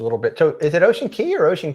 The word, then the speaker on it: Ocean Cay: ocean key for sure so it is key just like like the standard one so just cocoa it's